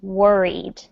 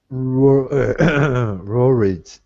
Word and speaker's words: worried: worried that good so this last word is tricky to pronounce it's worried worried M worried words good W's and rs are tricky in English they're very close to each other but they are not exactly the same sound so um here you